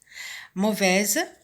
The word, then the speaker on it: mauvais: Mauvaise, on va écrire au masculin mauvais. Et la lettre finale muette, c'est le S, qui se prononce ici au féminin, mais qui ne se prononce pas au masculin.